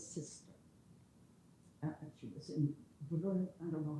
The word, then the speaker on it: Brno: And she was in Brno, I don't know how to pronounce it. But no, there's no vowel. Oh, yeah. Brno, in Czechoslovakia.